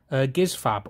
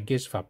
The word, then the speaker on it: Gizfab: Eden from Gizfab or Jizfab or whatever you, however you want to pronounce. I prefer to say Gizfab, to be honest.